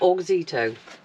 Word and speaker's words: Auxito: How do you pronounce it? Auxito.